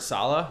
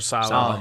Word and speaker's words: Saleh: How do you say his Robert Saleh? Robert Saleh.